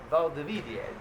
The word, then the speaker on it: Valdivia: that's a big basketball town, and it's called Valdivia.